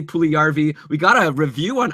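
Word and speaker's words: Puljujärvi: about Jesse Puli and I pronounced it jarvi a whole bunch of times last week you were talking about Jessie pju jarvy okay last we I was talk about Jessie pju jarvy but I should have been talking about Jessie pulvy we got a review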